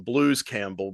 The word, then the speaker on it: Bruce Campbell: And but they also call them Blues Campbell because of the LR pronunciation with Japanese names. Like an L can be sounded out as an R, or R as an L.